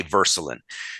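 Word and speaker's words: Würselen: little German town called Verselin. and it's spelled with a W, but you say Verscelin.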